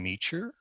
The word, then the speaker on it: Meecher: My name is John Meecher, that rhymes with teacher, and I was with the RCMP for over 32 years.